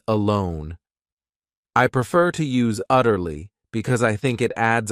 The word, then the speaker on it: utterly: Then we have another great adverb, utterly. This word has 3 syllables, and the stress is on that first syllable, utterly.